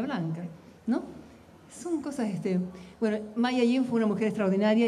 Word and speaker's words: May Ayim: May Ayim. May Ayim. Ayim se escribe. May como mayo en inglés y Ayim. Ayim.